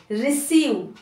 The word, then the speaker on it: receive: तो आरी, री, सी का स, री, EI को ई, और वी का व, रिसीव, रिसीव। अब आप बोलोगे मैम इसमें